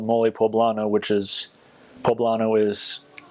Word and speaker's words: poblano: have this stuff called mole poblano which is poblano is how you say it's from pbla and